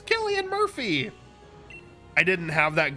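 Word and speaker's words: Cillian: oh that makes sense pronounced like Killian you're probably right uh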